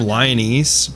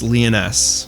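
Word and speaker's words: Lyonesse: I keep calling them Lionese, but it's Leoness.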